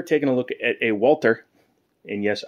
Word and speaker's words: Walther: a look at a Walter and yes I use the hard T because that's how they pronounce it a Walter actually Walter